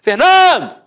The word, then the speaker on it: Fernando: Por exemplo, Fernando! Ficou onde? A sílaba tônica? No NAN.